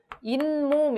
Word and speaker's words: 잇몸: 게 와 관련이 있어요 이몸의 경우에는 본래 이 하고 몸이 합쳐진 말인데 이게 발음이 어떻게 됩니까 잇몸 이런식으로 미움이 끼어들어 같죠 그래서 이것을 표시하기 위해서 사회 시 옷을 쓴 것이기도 합니다 얘는 요